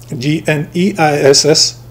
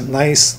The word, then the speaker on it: gneiss: It's called the peninsular gneiss, G-N-E-I-S-S, pronounced as nice, gneiss, whatever.